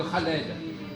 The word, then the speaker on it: Khaled: Si on met, du moment qu'on met KH en français, on doit dire Khaled. C'est fait pour ça. D'accord. Donc là, on fait une faute encore. Parce qu'on prononce Khaled comme si c'était un K tout seul ou un C tout seul.